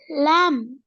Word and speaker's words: lamb: Lamb. Lamb. Then silent letter.